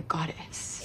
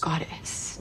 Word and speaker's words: goddess: treats me like a goddess she kind of evenly stresses it god s goddess which is an Australian English pronunciation as opposed to the American goddess but it's also the